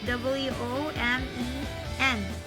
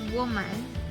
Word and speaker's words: women: If you can see, it's W-O-M-E-N. So usually they say woman, but it should be women.